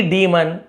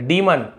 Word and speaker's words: डीमन: डीमन इसे डीमन पढ़ना है। डेमोन डेमोमन नहीं पढ़ना है।